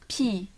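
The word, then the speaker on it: 비: tongu çum Tamamdır hocam B sesi ve i sesi çok kolay bir kelime pi pi ama B diye okumuyoruz tamam mı Bu Normalde B sesi Doğru evet bu B sesi ama birazcık daha böyle p sesine yakın gibi pi pi böyle P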